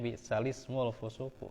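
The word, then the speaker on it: بِئْسَ الِاسْمُ الْفُسُوقُ: gitu Nah itu ya Sehingga jelas cara bacanya balismul fusuku Ya nah ini satu-satunya ya kalau di mushaf riwayat hafz ya gitu satu-satunya Ini Gu Jadi dibacanya bisalismul fusuku ya seburuk-buruk panggilan adalah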